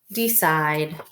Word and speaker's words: decide: And we know C right before I, like in city, makes the S sound. So this is side, side, decide.